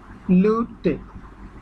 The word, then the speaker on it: luty: লুটে, LUTY। ওয়াই আমরা জানি ওয়াই এর উচ্চারণটা অলমোস্ট ইর মতো, তাই এখানে লুটি না